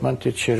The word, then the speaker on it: Monticello: Monticello. Thank you for the pronunciation correction.